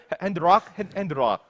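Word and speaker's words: Handlock: RRRL R 핸드락 핸드락 이거 발음 잘 해야 돼요. 핸드락 핸드락 R이 아니라 L입니다. L.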